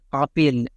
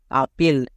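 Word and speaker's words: apple: এর জন্য লো আর শেষে ই থাকলে তার উচ্চারণ হয় না তাহলে কি হলো আপন বাট এর উচ্চারণটা আমরা কি করি আপেল বাট উপরে হচ্ছে আপেল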